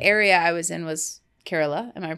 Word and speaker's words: Kerala: once and the area I was in was Kerala am I pronouncing that right yes you are and you